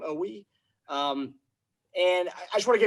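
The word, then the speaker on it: Oweh: I think that's how they pronounce his name, Owe.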